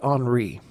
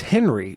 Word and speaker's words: Henri: said, hey, you know, this is spelled Henri. It's supposed to be Henri. And I was what? Yes. What? I thought it was Henry. She says, no, you're a fucking idiot.